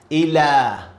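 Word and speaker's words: إلى: And this is alif maqsura. So we pronounce it like alif, normal alif. Ila.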